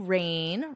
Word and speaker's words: reign: Despite this, the overriding message of the new reign, remember this pronunciation, reign, will be continuity and stability.